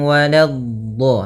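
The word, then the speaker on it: ولا: Alaihim walado. Hati-hati di sini. Walado. Lanya jangan sampai tebal. Jangan walad tapi lanya tipis. Walad baru di dhadnya yang tebal.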